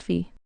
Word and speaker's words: phi: of humility where he realizes he had been mispronouncing the Greek letter fi as fi for 40 only to be corrected by an II that it is pronounced fee 8008.